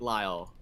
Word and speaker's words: Lyle: It's just Lyle. Just make it Lyle.